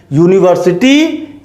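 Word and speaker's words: university: यूनिवर्सिटी English alphabet के Wavell letter से शुरू हुआ है, लेकिन जब इसका हम प्रोनाउंसिएशन करते हैं तो वो या अक्षर से होता है, इसलिए इसके पहले भी आ यूज किया गया है।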